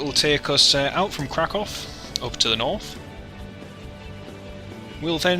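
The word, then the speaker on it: Kraków: It's not even pronounced Krakow, it's Krakow. Krakow.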